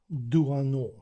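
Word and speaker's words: Doisneau: Перше, поговоримо про Роберг, е-е, Роберг Дуано, хоча тут є буква С, але вона не читається.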